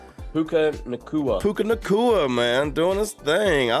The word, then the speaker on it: Puka Nacua: Puka Nacua, man, doing his thing.